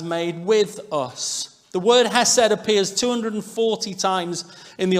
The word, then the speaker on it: hesed: The Hebrew word here is a word that's pronounced hesed, H-E-S-E-D.